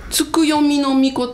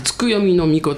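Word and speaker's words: 月読命: 月の神はいつく読みの命って言うんですうん月を読むはい命と書いてつく読みの命って言うんですけどね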